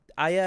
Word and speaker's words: AYA: days later this is aya aya i believe is how it's pronounced off of the mini